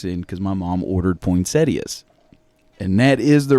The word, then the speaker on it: Poinsettia: Poinsetta. Nope. It's Poinsettia.